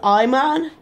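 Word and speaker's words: Ayman: I got the name because, well, my name is Iman, and it's spelled A-Y-M-A-N. For you people who thought it was I-M-A-N, you are wrong. But, so the A and Y sounds like I.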